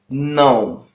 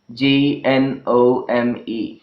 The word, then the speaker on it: gnome: And there is another example, that is the word gnome. Gnome. Gnome. Well, G occurs at the beginning of the word, and it is being followed by the word, letter N. Okay. Therefore, it is silent here.